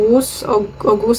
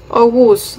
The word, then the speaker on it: Oğuz: name niya is Ow ogus silent G kasi siya eh ogus Nile Nile and ogus